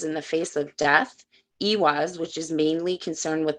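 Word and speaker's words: Ehwaz: Ewaz, pronounced Ewaz, is associated with vehicles, sacred to the Norse.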